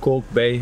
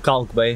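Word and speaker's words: Kalk Bay: this is the area we call coke bay or uh caulk bay however you want to pronounce it um as i told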